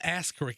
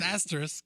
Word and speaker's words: asterisk: No, it's not Ask Rick. It's Ass Rick. So it's an asterisk. Says the guy who's gotten no sleep. Well, says the He guy that knows can that. still pronounce that properly. It's a common word. It's asterisk. Asterisk.